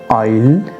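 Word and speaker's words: I'll: ये short form है, तो शॉर्ट फॉर्म को अलग तरह से प्रोनाउंस करना होता है। इसे पढ़ेंगे आप आइल, आइल, इस तरह से।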